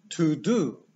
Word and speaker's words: to do: Robić po angielsku to jest to do. To do brzmi bardzo śmiesznie. I tutaj zwróćmy uwagę, że poznaliśmy słowo, które podobnie się pisze. To go. Porównajmy pisownie, ale widzimy, że wymowa jest zupełnie inna.